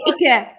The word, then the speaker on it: Icke: The Germans say Icke.